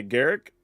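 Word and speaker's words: Garruk: to my knowledge everybody at Wizards even I says Garrick but for some reason in the public people still say G and I don't know why that is but there's also people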